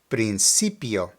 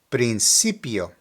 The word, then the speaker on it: principio: seen this one before again in Spanish when the letter c is followed by an e or an i it has an S sound so let me give you a couple of examples do does that make sense now in this particular word the emphasis is located on the CI so we have principio principio next we have di